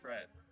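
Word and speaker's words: crêpe: you say it well the pronunciation is crepe but Emily in Paris That's great.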